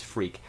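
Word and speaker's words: Freq: fool that I was calling it freck of course it's freak it's just odd the way it's spelled and I think that's just purely for the um for the rhyme with uh with with unique uh you'd you see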